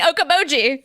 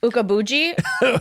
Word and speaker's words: Okoboji: Okoboji. Really? I was like I couldn't say the o k o b o j i. All right, how do people mispronounce it the best? Um Ukabuji or Okachobi.